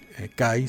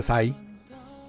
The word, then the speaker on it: Cai: La primera que su nombre Kai se pronuncia Sai.